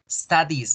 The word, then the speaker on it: studies: Now, la I, la E y la S juntas solamente se pronuncian is. Studies.